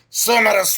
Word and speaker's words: sonorous: SONOROUS, sonorous voice. The right pronunciation is sonorous voice.